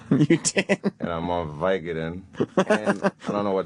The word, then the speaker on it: Vicodin: Vicodin, like company. But it's Vicodin. With a C-O. Yeah. That's how the word is spelled. You don't say company, you say company. Right? Vicodin, not Vicodin.